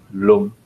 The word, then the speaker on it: lam: The seed syllable is lam, pronounced lum.